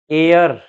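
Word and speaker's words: heir: This our, this is आवर, H silent है, our. Honest, एयर, एयर का मतलब उत्तराधिकारी, ये एयर अलग है।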